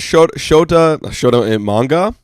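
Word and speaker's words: Shota Imanaga: Think about Shota Imanga. That's how you pronounce his name, I think.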